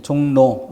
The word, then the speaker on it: 종로: 자, 그렇기 때문에 종로 이것은 그 발음이 종로, 리을이 니은으로 이렇게 소리가 나는 것이고, 소리의 변화를 표기에 반영해야 되기 때문에 R이 아니라 N으로 표기해야 한다.